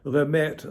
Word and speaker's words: Lemaitre: My wife, Carol Lemaitre, she has her first husband's last name, Lemaitre, like the Maître d', is how it's spelled.